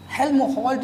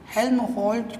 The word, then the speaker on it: Helmholtz: तो जानते हैं इसी से एक बना हुआ है हेल्महोल्ट्ज़ जो कॉयल, स्पेलिंग आप देख लीजिए HELMHOLTZ, हेल्महोल्ट्ज़ कॉयल।